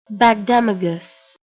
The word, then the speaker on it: Bagdemagus: How do I pronounce that? Why is it they're like hypnotizing me? Bagdemagus.